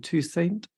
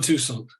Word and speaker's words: Toussaint: How do you pronounce his surname? Toussaint. Alan Toussaint. Toussaint. Yes, Toussaint. Alan Toussaint. That's where the emphasis is.